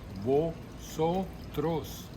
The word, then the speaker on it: vosotros: person plural we have vosotros vosotros listen to the sound of the o vo trose oh i really want